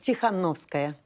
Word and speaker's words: Tsikhanouskaya: And Sviatlana pronounce it for me. Tsikhanouskaya.